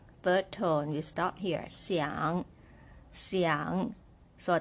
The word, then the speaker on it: 想: tone you start here Xiang young so a third tone you're going down and up right so it's quite a deep sound see young down and